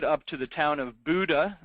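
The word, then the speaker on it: Bodø: to the town of Buddha it's uh spelled Bodo but pronounced Buddha and there is a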